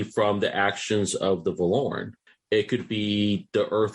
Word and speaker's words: Vorlon: We would be No, Justin calling them the Valoran.